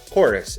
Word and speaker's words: Chorus: to be playing cruel chorus is how the game is supposed to be pronounced but it's got a v instead of an o like it's some edgy